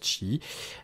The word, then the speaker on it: Qi: c'est la norme çi donc c'est cuit mais ça se prononce chi il ya que tu